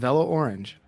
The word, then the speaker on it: Orange: Hi, I'm and it's pronounced orange. Orange.